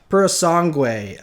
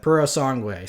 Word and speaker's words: Purosangue: and I believe how you say it is Purosangue, I think, is how you say that, Purosangue. So I probably butchered that, but I'm not Italian.